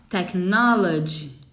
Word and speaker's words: technology: Tá vendo? Tem um I no final. Technology.